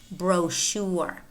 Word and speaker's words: brochure: Chicago Chicago Champaign parachute parachute Michigan Michigan brochure brochure chandelier chandelier Chevrolet Chevrolet notice how the final T is pronounced yet Chevrolet machine machine and it might